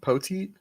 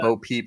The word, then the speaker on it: Poteet: So Poteet, how do you say his name? Poteet? Poteet, yeah. Sure. I called him Bo Peep for the longest time.